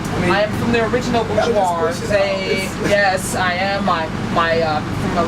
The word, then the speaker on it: Bourgeois: And his name is Bourgeois.